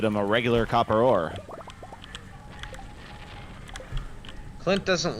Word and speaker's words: Clint: No, that's Clint. Flint, of course. You can remember because his name rhymes with Flint.